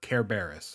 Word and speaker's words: Cerberus: famous Greek monsters like Cerberus or Karis as he sometimes pronounced and his 50 heads